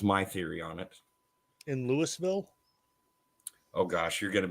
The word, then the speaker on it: Louisville: theory on it in Louisville oh gosh you're going to be in trouble it's not even Louisville it's Louisville it's Louisville now we've